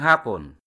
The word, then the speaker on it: hapon: Hapon, when stressed on the first syllable, means afternoon. However, hapon, stressed in the second syllable, means Japanese.